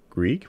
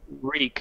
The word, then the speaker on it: Reek: but in the books wait it's Greek with an R it's reek re e e k oh you're I'm sorry